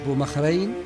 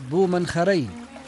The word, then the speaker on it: بومنخرين: القناطر لا زالت تعتلي السواقي، وفلج بومخرين هكذا ينطقه الأهالي هنا في ولاية إبرة تخفيفا، وهو فلج بومنخرين لأن له ساعدين يلتقيان في ساقية واحدة.